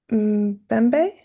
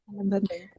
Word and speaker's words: Mbembe: Your practice compellingly engages what Michel Foucault and Nikili Mbembe, have I pronounced that correctly? Mbembe.